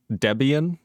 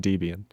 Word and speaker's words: Debian: Also, the E in Debian is pronounced like the E in tests, not the E in deviant. Debian? That just sounds wrong. I'm going to continue saying Debian.